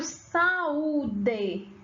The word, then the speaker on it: saúde: Quando eu pronuncio saúde, saúde, você observa que esse U, ele não foi tão fraco, né?